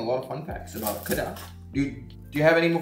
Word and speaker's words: Kedah: Kedah, yeah, Kedah. Oh my God. But you wanna say like the local, you say Kedah, you know?